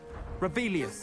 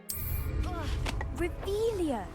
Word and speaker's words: Revelio: Rebellious. Saying it wrong. Revelia.